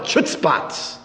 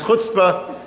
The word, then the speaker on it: chutzpah: "Rabbi, you Jews have a tremendous amount of chutzpahs." I had to forgive the person for not knowing how to pronounce chutzpah.